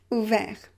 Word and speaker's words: ouvert: You have the consonant just after r, so you pronounce it e, ouvert.